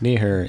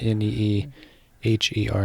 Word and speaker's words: Neeher: Yes, Neeher, N-E-E-H-E-R. It's like Neeher. I've heard all kinds of different crazy pronunciations, but it's always just, it's a lot simpler than it seems.